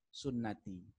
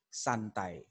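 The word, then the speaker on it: سنتي: yang belajar bahasa Arab dia akan membaca dengan benar the annikahu sunnati ya nikah itu adalah sunnahku kalau belajar bahasa Arab deh Tapi kalau enggak belajar bahasa Arab dibacanya salah annikahu santai gitu kalau seandainya dibaca annikahu santai-santai karena dia Pak karena dia tidak memahami bahwa nge-rap jadinya Akhirnya salah salah baca itu ya hah nah ini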